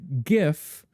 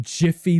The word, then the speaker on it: GIF: It's like gif like good like begins with you know the same letter GIF like gify lube you know it's